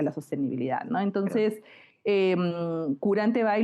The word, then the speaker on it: Quranteby: pero Entonces, Curante Bay lo pronunciaste muy bien porque todavía hay muchas personas que lo pronuncian de diferente manera.